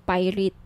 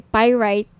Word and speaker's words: pyrite: ng bracelet ito yyung pirate pyrite Sorry pyrite yyung iba pronunciation pirate pyrite Okay 1,980 each may